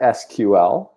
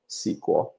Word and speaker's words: SQL: Some people pronounce it SQL, like those independent letters, or like the word SQL.